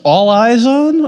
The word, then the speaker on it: All Eyes On: Uh, um, so, um, it's pronounced All Eyes On, or that's a really good name.